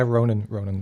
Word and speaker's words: Ronan: Is it pronounced Ronan? It is, yeah, Ronan.